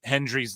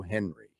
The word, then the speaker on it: Hendry: Jordan Grace calls him Joe Henry. And she apparently has always thought that his name is Joe Henry. Not Hendry.